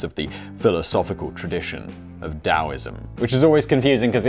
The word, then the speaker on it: Tao: the philosophical tradition of taoism which is always confusing because it's spelt with a t but it's pronounced dao thanks chyna i'm about